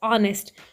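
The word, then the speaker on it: honest: H consonant sound है लेकिन चूंकि इस ऑनेस्ट वर्ड में एच हमारे पास साइलेंट होता है और साउंड कौन सी प्रोड्यूस होती है ओ की ऑनेस्ट कभी किसी ने ये नहीं कहा नेस्ट इट्स ऑनेस्ट तो ओ हमारे पास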